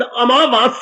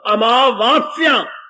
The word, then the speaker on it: अमावास: क्या श बोलते हैं शब्द अमावास है आ मा के बाद फिर आ की मात्रा वा के बाद फिर आ की मात्रा आधा सा या आ की मात्रा अमावास ठीक करो अपनी जुबान को